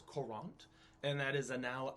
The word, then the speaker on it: Courant: a current is sure a current is not like the current of water and it's not like the berries it's spelled very differently it's korant and that is a